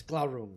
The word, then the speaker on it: Glaurung: He asked Leo to look into any info on the dagger Glaurung, I think was the pronunciation. Yes, Glaurung.